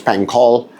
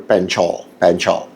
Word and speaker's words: Panchal: Sagar Panchal, it's in the US it would be pronounced as Panchal. In India it's pronounced as Sagar Panchal.